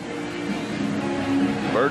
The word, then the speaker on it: Burt: Loose Jim Burt bird rhymes with dirt he he caused a